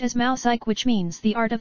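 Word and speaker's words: μουσική: Abstract music is derived from the Greek word s, pronounced as mousike, which means the art of muses.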